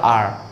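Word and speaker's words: hour: अगर बोलोगे तो दिक्कत है ना ये गाइस, इसको हावर नहीं पढ़ा जाए, इसको पढ़ा जाए आर, आर, आर।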